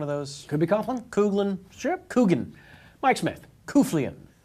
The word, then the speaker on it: Coughlin: Cooglin. BPS. I'm lucky enough to win this week. My last name is pronounced Cooglin.